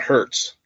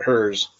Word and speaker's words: Herz: immigrated back from Germany, in German, it's pronounced Herz. Well, when they came over to America, there's no T in it, so no one pronounced it that way. So they put the T in it. Oh, gotcha. And the other part of the family said, we're not changing it, so we're just going to leave it at Herz.